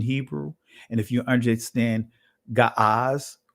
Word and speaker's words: Ge'ez: Now, we do know if you understand ancient Hebrew and if you understand Ga'az, which is pronounced today Giz or Ge'ez, some would, pronounce it with the modern Amharic, right?